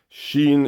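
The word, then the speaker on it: شين: Sheen is like an SH, first of all, and then EEN. So it'd be similar to that. That's how you pronounce it.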